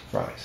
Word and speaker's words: Fries: Fries, and you say it like French fries.